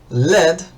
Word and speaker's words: lead: Bueno, entonces tenemos led, que es el plomo. Verán que lo voy lo pronuncio diferente porque se pronuncia diferente. Tenemos LED y lead, que le es.